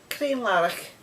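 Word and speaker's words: Crianlarich: i n l a r i c h clean laric there you go use or maybe like and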